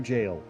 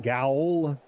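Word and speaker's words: gaol: Fun fact, by the way, G A O L is the old spelling for jail. It is still pronounced jail. Don't call it GL.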